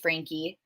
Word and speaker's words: Franke: who don't know her their last name is pronounced Frankie um is a family vlogger and a mommy blogger was um they started their downfall in 2020.